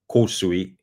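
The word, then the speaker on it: Kōsui: So, or I say Korsui. Korsui is how that would be properly pronounced.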